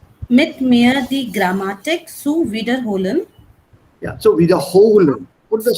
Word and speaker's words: wiederholen: Make sure your Betonung liegt auf der zweiten Silbe. Yes. Not wiederholen, sondern wiederholen.